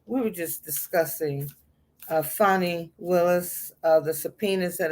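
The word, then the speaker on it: Fani: going to transpire um funny is how it's it's pronounced but i think it's spelled fanny so people tend to mispronounce it funny our fulton county va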